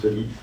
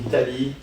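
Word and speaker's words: tally: c'est des grandes conversations avec les copains, de dire si on dit Tali ou Tolly. Ça s'écrit Tali, je dis Tali, Tolly, alors vous le dites comme vous voulez.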